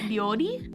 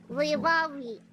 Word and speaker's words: 料理: They know Can you pronounce something for me? Okay. Pebbles Give her the word. Okay. Is it ryori? Yeah, how do you say cook in Japanese? Oh, cooking? 今夜は料理しています。料理。 Ryori.